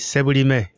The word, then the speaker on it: Sebulime: Sebulime? Well, that's a Canadian way. Give me the Ugandan. Ugandan way is Sebulime. Sebulime.